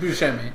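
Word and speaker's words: Buscemi: F that Donnie was Steve buim that's how you pronounce the name Steve Bushi it's he said buim oh what the [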